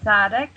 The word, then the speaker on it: Sadegh: and Misha so well it's how do you pronounce it darling um hi Misha my name is sadic and you SRA ala Dela Hodel um and